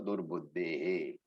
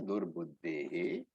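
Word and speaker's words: दुर्बुद्धेः: And I have said before, wherever there is a visarga, the visarga takes the pronunciation of the previous alphabet. So previous thing is what? Durbuddhe. A is the one. So durbuddhehe. Dhartru rashtrasya durbuddhehe.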